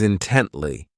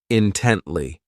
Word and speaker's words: intently: Next is intently. This adverb has three syllables and the stress is on that second syllable, intently.